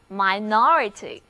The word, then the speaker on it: minority: 注意哦，单词的重音是在第二个音节，一起来念一下吧， minorityminority。